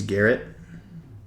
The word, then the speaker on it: Garrett: 21 that summer but my name is Garrett so they all called me Garrett 50 Cal cuz it rhymes with Barrett 50 Cal we should